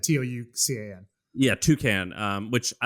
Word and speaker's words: Toucan: way we should say toucan is like the bird toucan sam type of thing it's it's not yeah it's spelled like that t-o-u-c-a-n yeah toucan um which